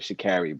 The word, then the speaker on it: Sha'Carri: She pronounces it Sha'Carri, brother.